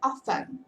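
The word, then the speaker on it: often: com a sua vida o t você não pronuncia então a pronúncia é ofan OK E aí o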